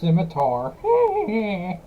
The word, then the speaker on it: Scimitar: M27 Scimitar. I don't know how to say that. I probably butchered it. You did, it's called Scimitar. Back to 25, that's not how you say it. Actually, it's pronounced Scimitar.